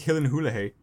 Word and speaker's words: Gyllenhaal: why, but that's why I say like Jake Gyllenhaal instead of Gyllenhaal, because it's like some like YouTube video where they're talking to him and like, how do you pronounce your name? He's like, oh, it's Gyllenhaal.